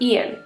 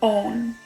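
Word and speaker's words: Eoghan: is silent, it's just Ian. I'm gonna go with Ian. Owen. Ah, Owen, or On. Dang it, okay. I guess the E is silent, and the G and the H.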